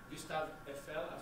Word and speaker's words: Gustave Eiffel: Gustave Eiffel, sorry, I'm just pronouncing the French way.